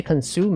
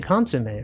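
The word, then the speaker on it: consommé: They don't say consume. They say consomme, right?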